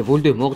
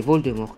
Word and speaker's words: Voldemort: que tu es sérieux les francophones sont les seuls à avoir bien prononcé voldemort depuis le début les anglo saxons 30 ans b des nues bien que jk rowling est avoué qu'elle était probablement la seule anglophone a prononcé voldemort correctement il n'empêche que c'est la prononciation à la française avec un thé muet qui est la bonne à la mort des